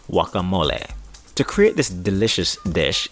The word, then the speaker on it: guacamole: In Mexican Spanish, it is pronounced guacamole.